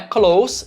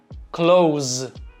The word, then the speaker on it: close: Já o verbo fechar não é close, e sim close, com som de Z no final.